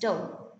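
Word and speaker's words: tau: Greek alphabet ta u it is pronounced as dou a sub set to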